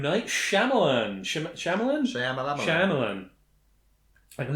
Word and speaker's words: Shyamalan: list here M Night shamalan sh shamalan sham shamalan I'm never quite sure how to pronounce that I think it's Shyamalan yeah that would make sense actually from the way it's spelled M Night Shyamalan yeah shamalan